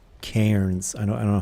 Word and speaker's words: cairn: No, the piles of stones are called cairns. I don't know how you pronounce it.